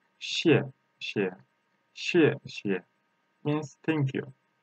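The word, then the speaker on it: 谢谢: If there is a two same character between, the second opinion doesn't has tone. So how can we pronounce that? Xie xie. The second xie is relaxed ourselves. Xie xie.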